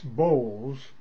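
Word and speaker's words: boles: to everyone um b o l e s bowls is the name is one of the names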